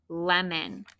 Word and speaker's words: lemon: What makes that lemon sound? Did you look it up? Right, it's O-N.